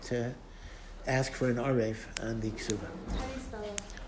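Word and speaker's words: ערב: But the woman would have the right to ask for an arev on the ksuba. How do you spell it? Arev is ayin, resh, base, or vase. Orev.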